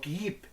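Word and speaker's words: Київ: La ciudad castillo de K, que se pronuncia Kiep en ruso o KIP en ucraniano.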